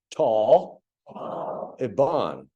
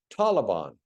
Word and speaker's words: Taliban: an Indo-European language but these two words are also most of the time mispronounced particularly by our political leaders so if you would repeat after me tall iban Taliban Taliban you got it and then Cabo cabble